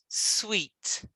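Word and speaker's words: suite: what's inside no it's got an e and we pronounce it sweet sweet this is sweet but you hear it s-u-i-t-e sweet yeah with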